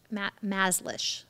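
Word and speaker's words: Mazlish: Maslish is how you say her name.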